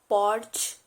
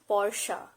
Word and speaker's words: Porsche: word is porsche porsche it's not porch or porsche it's porsche these are the luxury